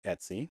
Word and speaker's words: etc: directory it's usually configuration files etc but it's pronounced etsy it spelled et Cie but it's pronounced etsy we have a home directory that's where home